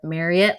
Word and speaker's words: Marriott: I'll have you all know though because I have corrected many of people on various podcasts of Marriott like Chariot or Marriott rhymes with chariot.